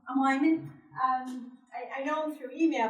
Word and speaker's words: Wieman: And Carl Wieman, is it Wieman or Wyman? Wyman.